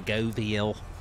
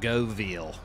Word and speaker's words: Göweil: uh the new DLC the goviel that's how you pronounce It Go veal so pretend that W's like a V like Vanessa goviel but